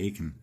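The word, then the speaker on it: Achan: to a or a rhymes with bacon. Yeah. Yeah. there. It'll be like the seven um whatever the you know the bacon thing only we'll say Aken the the seven steps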